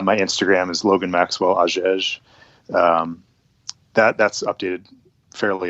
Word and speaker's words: Hagege: Uh so my name is Logan Maxwell Aes and last name it's spelled h a ge.